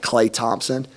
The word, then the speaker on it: Klay Thompson: you know you talk about men players like Klay Thompson all right am I pronouncing that right yeah from Golden State clay